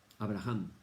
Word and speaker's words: Abraham: Abraham. Nosotros decimos Abraham en español porque la H es muda.